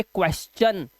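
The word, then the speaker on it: question: जैसे यहाँ पे एस है, उसके बाद टी आई यू है ना, तो इसे पढ़ेंगे क्वेश्चन, तो चा का उच्चारण आया।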